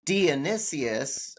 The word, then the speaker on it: Dionysius: So, in Dionysius, I would say the I says ee and the Y says eh, like like in the other one.